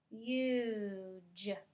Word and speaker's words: huge: to our vowel and now the vowel is going to say his name so let's try huge huge does that change the meaning yeah because before the word was hug and now it's huge let's read this last